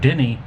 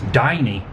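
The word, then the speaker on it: Dinny: Not Denny, it's Diney.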